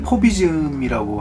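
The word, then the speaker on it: Fauvisme: 9년간 그 일어났던 미술 운동인데 그 프랑스에서는 그걸 포비즘이라고 하고 비즘 FA VI SM 이렇게 말 발음하는데 뭐 그때 뭐 블라가 마티스가 특히 마티스가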